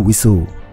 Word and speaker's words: WSO: WSO sering diucapkan sebagai WISO.